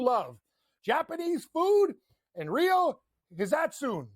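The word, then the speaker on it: Hisatsune: Japanese food in Rio, Hizatsune. That's how you say it. I called him Hizatani before.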